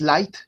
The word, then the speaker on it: Leid: El diptongo I, cuando aparece la E y la I juntas, entonces ya no pronunciamos EI, sino que suena como I.